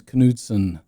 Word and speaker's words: Kanude: is his last name is kuden okay but you know you don't hit your canine you don't cut with a yeah so it's always